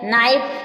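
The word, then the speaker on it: knife: एन से पहले जो के आया है वो साइलेंट है नाइफ नाइफ में चाकू नाइफ मीस चाकू नोट नोट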